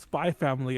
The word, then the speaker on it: Spy x Family: __ ] hunter hunter people calling hunter hunter even though there's an x in the middle so um that's the topic yeah it's called it's pronounced spy family apparently i was like